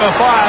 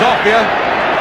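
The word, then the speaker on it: Offiah: They call him a fire because it rhymes with chariots. His real name is Ophir.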